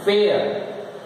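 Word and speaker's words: fair: होता है ठीक है एयर एफ ए आई आर चार लेटर साउंड दो फ एयर are silent फेयर फेयर हेयर dare care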